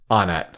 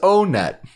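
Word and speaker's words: Onett: like they're all numbers the competitive smash brothers scene calls it on it I'm standing up for the earthbound fans because they always get on this is the stage that is the most competitive love this as far as what it's pronounced or what grimace the minutes in the chat says the katakana says oh net oh god you're gonna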